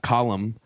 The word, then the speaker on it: Colm: Where's that coming from? The extra syllable. Well, that's so it's a very common like first name column.